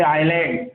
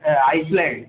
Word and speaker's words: island: Keep in mind, S is not pronounced here. It remains silent. Don't say island, Iceland.